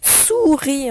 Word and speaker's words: souris: Souris, on se souvient du mot souris de syllabe, et on fait tout chanter, le S qui est mu à la fin.